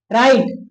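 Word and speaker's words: right: तब इस आई का जो उच्चारण होता है आई ही रहेगा। जैसे देखिए राइट यहां पे दिया जाए इसका उच्चारण नहीं मिलेगा।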